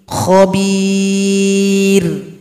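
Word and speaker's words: خبير: Khabir. Jangan sampai bibir bawah diajak ke atas. Khabir. Khabir. Itu bacanya kurang tepat karena ro-nya menjadi tebal.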